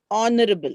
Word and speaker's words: honorable: word are the word honorable sorry in in all this h is silent h no h is